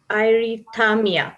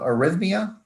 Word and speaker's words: arrhythmia: asked how is cardiac i might be pronouncing it wrong um irethamia causing syncope detected and is it treatable um are you asking about arrhythmia yes arrest me okay